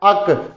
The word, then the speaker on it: ache: तो इसी तरीके से कोई भी बड़ी पार्ट का नेम लगाइए और उसमें ACHE जोड़ दीजिए, इसका उच्चारण है अक।